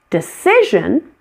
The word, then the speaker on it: decision: Decision has two weak syllables, the first one and the last.